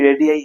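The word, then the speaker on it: radii: यहाँ पे तुम लोग ये जान लेना, रेडियस बोले तो एक रेडियस, अगर प्लूरल फॉर्म में आ गया तो ये रेडियाई बन जाता है। तो बुक में कभी अगर देख लेते हो कि रेडियाई ये क्या है भाई,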